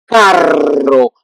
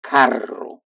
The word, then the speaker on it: carro: But yeah, but if you don't pronounce well, you can mix between caro and carro.